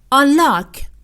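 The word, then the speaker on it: unlock: و یا حساب کاربری آنلاک آنلاک آنلاک آنلاک باز هم استرس کلمه روی حرف ال هست اینجا یعنی با شدت بیشتری تلفظ میشه آنلاک مثال او نمی‌تونه رمز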